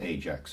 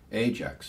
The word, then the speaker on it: Ajax: Well, when you know that there were two pronunciations of Ajax at the time, Ajax and also Ajax, and when you